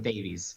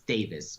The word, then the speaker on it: Davis: He was so shy about actually saying how to pronounce his name, so everybody calls him Davies. It's Davis, whatever.